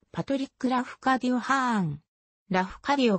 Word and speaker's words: ハーン: したものただ妻の節子にはハーンと読むことを教えたことがある版もしくは